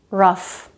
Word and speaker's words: rough: But there are some exceptions to this rule. Cough, rough, tough. There, GH does make a sound, it's the F sound.